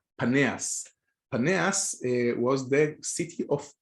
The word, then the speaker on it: Paneas: to be abundance but the real the original pronunciation would be paneas and in hebrew it